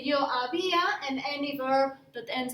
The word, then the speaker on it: había: So, yo había, that is the accent on the I, yo había, tú habías, él or ella había, usted había. Notice that I'm not pronouncing the H.